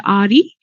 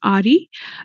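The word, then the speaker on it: AHRI: Institute it's called the Ari where yeah the H is silent so it's Ari and um you have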